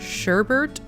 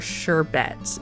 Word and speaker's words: sherbet: Do you pronounce this word “sher-bert” or “sher-bet?”